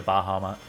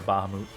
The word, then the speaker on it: Bahamut: Yeah, someone turned into Bahama or Bahamut, however you choose to pronounce it.